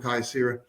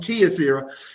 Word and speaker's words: Kyocera: just like it from Key from Kyocera nope sorry I said it I said it wrong Kia Sarah um we can recover